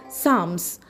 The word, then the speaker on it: psalm: Next word we have is sams spelled as p s a l m and then we pronounce is sam s a l m sam and the sentence that